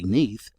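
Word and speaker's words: Nudd: is mentioned that nud in Welsh is pronounced simply neath and not otherwise.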